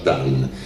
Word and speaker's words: dun: sono quasi tutti crollati, si chiamano Dan, scritto Dun, ma si pronuncia Dan.